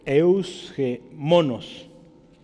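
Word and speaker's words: εὐσχημόνως: si la quiere decir eus que monos el acento es en la hoja tanto en el griego como el español está en la o esa palabra significa decorosamente hágase todo eusko monos significa decorosamente honestamente honradamente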